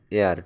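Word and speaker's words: heir: Say needs N এয়ার টু হার property, এখানে H silent থাকবো তাই এন হবে।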